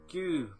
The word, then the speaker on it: Gü: went down to local Tesco and bought some goo PS is that how it's pronounced goo yeah goo yeah yeah g u